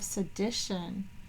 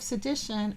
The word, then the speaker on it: sedition: her on charges of sedition so again notice that's t o n but here is pronounced sh huu most people leave